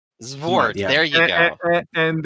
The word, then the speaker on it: Xvart: Well, I think it's pronounced Zvart. Zvart.